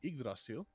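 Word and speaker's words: Yggdrasil: Actually, I've been correcting myself on pronunciation in the Marvel law. It's actually Idrasil.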